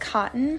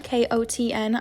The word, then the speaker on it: Kotn: It's pronounced Kotn, Kotn.